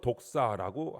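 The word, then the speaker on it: δόξα: 영광은 어 원어로 독사라고 하는 발음으로 하는데이 말의 뜻은 찬양, 경배, 거룩, 위험, 영예 이런 뜻이 있어요.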